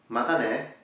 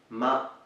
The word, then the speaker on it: matane: That is matane, matane. So let's break it up for pronunciation. Ma-ta-ne, matane.